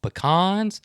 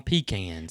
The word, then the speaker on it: pecan: but there's an invisible there's an invisible pecan and pecan line yeah in georgia and depending on where you live in the south you're going to call them pecans are you going to